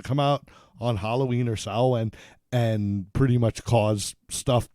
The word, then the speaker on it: Samhain: Now, the whole thing is that there's an old Celtic spirit that would come out, that would emerge on Samhain, right? Isn't that how You it's pronounced that right.